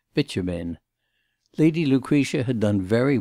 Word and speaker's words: Bitumen: Mr. Freer had caught quite the right pronunciation of this name, which he successfully sounded as Bitumen.